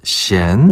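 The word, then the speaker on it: 咸: 특히 동북 지역은 많이 짠데요.요 짜다를 시엔. 어, 끝이에요. 끝. 짜다. 시엔. 네. 시엔. 시엔이라고 해요.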